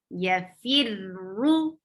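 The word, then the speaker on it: يفر: And for when you will be pronouncing ra with dhamma, you will circle your lips. Yafirru.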